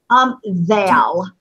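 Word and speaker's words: ذال: Thal. Thal. Val. Oh, okay. Thal. Okay. And Lula, the last one in that row? Ra. Ra. Very good. Okay, so we have Ha, Ha, Dal, Thal, and Ra.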